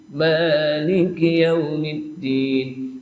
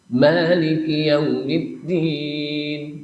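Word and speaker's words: مالك: Nah, kata-kata ma memang ulama menjelaskan boleh panjang, boleh pendek. Maliki Yaumiddin. Boleh juga Maliki Yaumiddin. Jadi kalau nanti imam bacanya pendek, itu boleh. Memang bacanya pendek padahal panjang. Itu ada dua riwayat.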